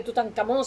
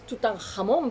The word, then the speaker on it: Tutanjamón: se hizo después de tutan camón se le negó también un ad natio Memorial que realmente es tutanjamón porque pusieron K porque los americanos no saben pronunciar la J pirad tutanjamón bueno pu